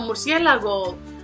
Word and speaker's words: murciélago: So murciélago, we see that it has 4 syllables, and it's the second one which is going to have the accent.